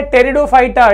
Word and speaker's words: Pteridophyta: अगला है टेरिडोफाइटा। टेरिडोफाइटा में क्या-क्या शामिल है? देखिए, यहाँ 'P' साइलेंट है। 'P' साइलेंट नहीं है, अन्यथा आप "pteridophyta" कह सकते थे, लेकिन ऐसा न करें।